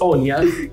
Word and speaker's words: Áine: name yes Hot Topic it's Ona it's kind of it's spelled with a i and e right yes and the a is like it's not English a it's like accent so I mean in so it's an Irish name um and in uh